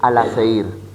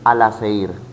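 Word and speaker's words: Alaşehir: La ciudad de Filadelfia actualmente es Al-Aseir, que antiguamente era llamada Filadelfia. Repito, la ciudad de Filadelfia actualmente es Al-Aseir, que antiguamente era Filadelfia.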